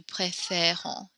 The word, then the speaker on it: préférons: So note the way we pronounce this E when it changes its accent, we kind of smile when we say it, préfère, préfère. We keep our mouth unsmiling when we pronounce nous préférons, vous préférez.